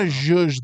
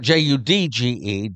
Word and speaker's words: zhuzh: You gotta zhuzh the wine, you gotta what? Zhuzh. What? Spell that. Zhuzh. Spell that. Juje. Zhuzh. Not Judge. Judge. Not judge. Zhuzh.